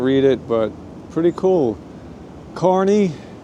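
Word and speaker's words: Kearny: Carney, mostly mispronounced as Kearney, but there you go.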